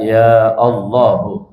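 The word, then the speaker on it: يا الله: Kecuali hamzah Allah dia tetap tidak gugur. Bacanya ya Allahu ya a tetap gitu ya.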